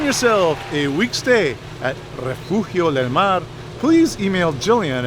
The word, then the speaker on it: Refugio: like i don't know i could say refugio which is the property proper way to say it but refugio del mar